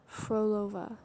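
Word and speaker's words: Phrolova: Froolova. Froolova. I always really struggle with characters names who who where their names start with PH cuz it's not pronounced like P. It's F.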